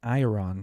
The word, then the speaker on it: iron: It's like I earn like an ash earn, you know, or earn. You told me it's earn.